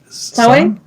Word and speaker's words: Samhain: Samhain?